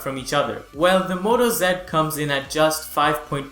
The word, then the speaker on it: Moto Z: or Lenovo X Series is now the Moto Z series and before you say it's pronounced Z it's not and you're wrong Mot aola announced both the Moto Zed and the Moto Zed force and they're the